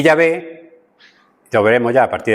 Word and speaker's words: Yahvé: Pero fonéticamente debemos entender que no es correcto. Fonéticamente no es correcto, ¿vale? Los hebraístas, los estudiantes más dados, más duchos, han llegado al acuerdo general de que la pronunciación original debió haber sido Yahvé. Y al final, la Biblia Católica tenía razón. Es pronunciación más apropiada para el nombre de Dios, para nosotros, nuestra fonética, debería ser Yahvé.